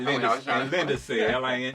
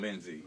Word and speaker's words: Lindesay: Our Facebook is just Lindesay. All right, y'all. And it's spelled. Right. So like crazy. I learned that out. Lindesay. My brother, he makes sure that you say Lindesay rather than Lindsay and stuff.